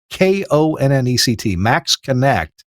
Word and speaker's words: MaxxKonnect: Check out just all the features at the Max Connect website at MAXXKONNECT, Max Connect. I know it's spelled funny, but there's a link in the show notes.